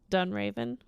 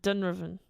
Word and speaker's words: Dunraven: like a villain name lord dunroven dunraven dunraven yeah why would you pronounce it dunroven you just take out all the vowels i mean i pronounce